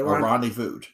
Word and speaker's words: rendezvoused: Okay, rendezvoused.